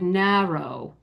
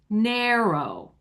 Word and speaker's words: narrow: You notice when I said narrow, I pronounced that a as a short a. A a. Most Americans now say narrow.